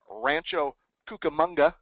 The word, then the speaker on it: Rancho Cucamonga: wife are just good people and they're from Rancho Cucamonga did I pronounce that right you you nailed it you